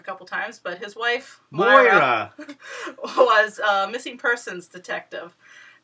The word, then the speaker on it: Moira: I thought it was Mira. I think it's Myra, so I might say it wrong a couple times. But his wife, Moira, was a missing persons detective who investigated missing persons.